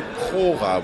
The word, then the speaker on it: Prora: tall Stefan who uh wrote, directed, and produced Pora. Am I pronouncing that properly? Yeah, that's right. In German, we would say Pora with a rolling error.